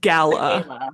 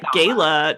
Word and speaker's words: gala: She corrects her pronunciation but oh it's a it's gala. Yeah. She's like the gayla Tammy says and then the boat girl goes it's gala.